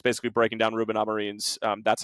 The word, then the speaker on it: Amorim: It's available on the Patreon now, where it's basically breaking down Ruben Amorim's, that's how you pronounce that, Sam, by the way.